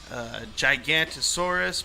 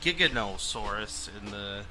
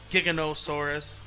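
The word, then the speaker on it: Giganotosaurus: And then back there, you can see Gigantosaurus, but it seems like they call it Giganosaurus in the movie. So maybe that's how you properly pronounce it.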